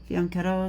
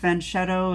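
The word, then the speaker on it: Fianchetto: to French Cheeto uh it's fetto is the real real word you guys or faneto faneto is the probably the correct way to say it um but fenet is what Americans say for the most part and French Cheeto is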